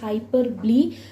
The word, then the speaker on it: hyperbole: But the correct word what I would suggest you all to pronounce it is hyperbole.